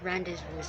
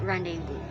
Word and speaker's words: rendezvous: will be at first under the impression that it will read as randy's voice but if you're going to look at its pronunciation it needs to pronounce as rendezvous another best example for